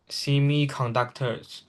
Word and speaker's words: semiconductor: Such a conflict could disrupt the global supply chain, politically in semiconductors, and trigger a wider economic slowdown. This pronounced as semiconductor, not semi. If you pronounce semi, Semiconductor. you are Americans reading.